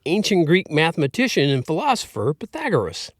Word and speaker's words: Pythagoras: Greek mathematician and philosopher Pythagoras. It's spelled p y t h a g o r e s, Pythagoras. If you want to get some other way about it, you can say Pythagoras.